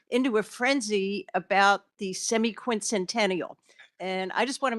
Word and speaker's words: semiquincentennial: people and communities into a frenzy about the semi-quincentennial.